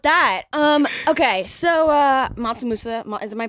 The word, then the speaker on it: Mansa Musa: Well, with that, um, okay, so uh, Matsamusa, is am I pronouncing this correctly? Yeah, Monsamusa.